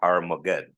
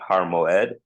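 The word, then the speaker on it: הר מועד: This apostrophe here stands for a letter called the Ayim, and it is a letter that now in modern Hebrew we don't pronounce, so it'd be Har Moed. In the olden times, they would say it with like a kind of what would sound like to us like a G, like a G sound, right?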